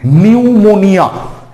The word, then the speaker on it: pneumonia: নিউমোনিয়া। নিউমোনিয়া, দেখো P দিয়ে শুরু, নিউমোনিয়া উচ্চারণটা ন দিয়ে, N দিয়ে মনে হচ্ছে উচ্চারণ, কিন্তু প্রথমে P থাকছে, PNEUMONIA, নিউমোনিয়া।